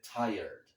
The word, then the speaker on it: tired: T I R E D, mas a gente pronuncia como se fosse T i e R D. Como se o E viesse primeiro e r viesse depois. Ó. Tired, tired, tired.